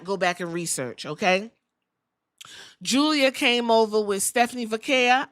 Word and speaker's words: Giulia: Even though her name looks like Giulia. That's why I'm pronouncing it right, Mother Ghoul.